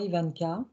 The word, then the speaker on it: Yvanka: Et d'ailleurs, je dis Ivanka, mais comment ça se prononce exactement? Ivanka. Ivanka, bon bah, super.